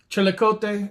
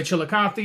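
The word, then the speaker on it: Chillicothe: Chilikote is how they pronounce it. Uh, but you can say chilikathy.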